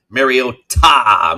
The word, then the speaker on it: Mariota: Also, helping everyone with their pronunciation of Mariota. Make sure we always emphasize ta.